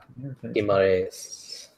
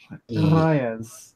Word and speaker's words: Guimarães: Guimarães. Guimarães. There you go. I need to roll my R properly. Guimarães. Gi. Like a karate gi.